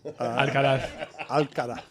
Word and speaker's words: Alcaraz: Wanted to ask you about an interview that Carlos Alcaraz, I pronounce it the way that they would in Alcaraz. Barcelona. Alcaraz.